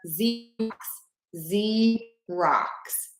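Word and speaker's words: Xerox: Z rocks. So that X, we say the letter Z rocks.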